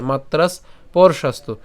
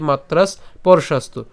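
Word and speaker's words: মাত্রাস্পর্শাস্তু: যদিও বেশি ভেঙে দিয়েছি এই জায়গাটাকে একসাথে এভাবে উচ্চারণ করবেন পরশাস্তু ঠিক আছে মাত্রাস পরশাস্তু অর্থাৎ ভেঙে দিয়েছি বেশি করে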